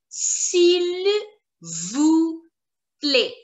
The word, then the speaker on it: s'il vous plaît: We will first learn the formal way of saying someone please, and we pronounce it as s'il vous plaît.